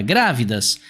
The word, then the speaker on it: grávidas: aqui em grávidas moçada grávidas a gente tem como sílaba tônica para gente aqui a antepenúltima e quando a nossa sílaba tônica é a antepenúltima isso significa que essa palavra é uma palavra proparoxítona e ela é proparoxítona